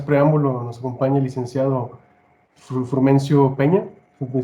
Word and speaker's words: Frumencio: Pues bueno, sin más preámbulo, nos acompaña el licenciado Frumencio Peña. ¿Me pronuncié bien tu nombre, Correcto. Frumencio?